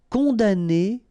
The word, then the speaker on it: condamner: Condamner pour. Remember, we don't pronounce this M here. Condamner.